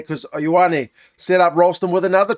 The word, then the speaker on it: Ioane: He's a really cool guy, but he can't pronounce the name Ioane. It's more like if you saw Arnold Schwarzenegger, and you wanted to say, "Yo, Annie. Yo, yo, Annie." That that's not exactly right, but that's closer than saying like I O N E.